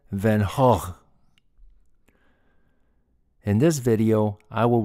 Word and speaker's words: Van Gogh: of the artist Vincent van Gogh in the U.S is pronounced Van Gogh but he was Dutch and they pronounced his name as Vincent Van hog in this video I